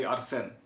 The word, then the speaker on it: Arsène: Like, try to kind of see if you can do the more French style of pronunciation when you put the stress on the second syllable. So you say Arsène.